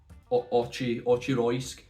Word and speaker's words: Auchroisk: I think there's a few people pronouncing it certain ways. I've seen Auchroisk or Auchroisk, Auchroiski, Auchroisk, but we're going to pronounce it Auchroisk, which I think is the right pronunciation.